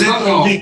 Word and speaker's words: Zovko: Zovko, it pronounced Zovko, Zovko, like Greek, Zovko, yeah.